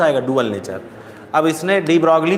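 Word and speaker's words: de Broglie: इसके घर वाले इसको बोलते थे डी ब्रो। वहाँ पे फॉरेन में क्या है, कई सारी स्पेलिंग्स जो होती हैं वो साइलेंट होती हैं। तो डी ब्रो हम लोग पढ़ते हैं डी ब्रॉगली, 3-4 फालतू जोड़ दिए हैं।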